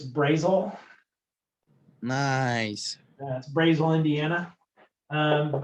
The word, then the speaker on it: Brazil: the side spelled this way how would you pronounce that brazil okay yeah so what i call that brazil now if you're in indiana it's brazil nice that's brazel indiana um how about this how would you